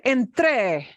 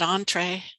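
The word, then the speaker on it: entré: is the word Entre there is a word Entre with a punch at the end it does not mean Entre it's not entree yeah Entre Entre means I went into it comes from entrar the verb if I punch the back end of it Entre I automatically know oh verb I did it I did it is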